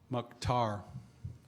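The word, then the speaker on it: Mukhtar: McTar.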